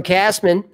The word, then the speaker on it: Kassman: Kassman, Rhymes with Ass Man, 1999.